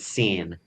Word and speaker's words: Seyn: One of the main characters' name is Seyn.